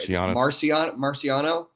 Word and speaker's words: Marciano: Marciano? Yeah, you got to think Rocky.